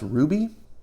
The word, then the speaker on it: RWBY: And then RWBY, or I believe this might be pronounced Ruby, #1, was out.